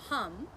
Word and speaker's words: ham: vesuda the mantra is hum but it's actually spelled h-a-m and the a is pronounced like it like it would be a u in english so start by getting